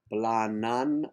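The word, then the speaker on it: planen: La eterna serenidad que augusta, and then the word plana and N, drop the E, since the E is pronounced like an A, plana an. Two A's, make them one, planan, al cel.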